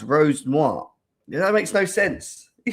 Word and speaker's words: Rosenior: We are here to talk about it's pronounced Rose Noir.